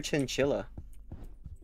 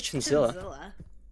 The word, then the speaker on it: Chinzilla: You keep calling her Chinchilla. Is it? Her name's Chinzilla.